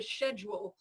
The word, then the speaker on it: schedule: I love the British one, the schedule. I love it. And it makes more sense anyway. But unfortunately, here in America, we pronounce it with like an SK.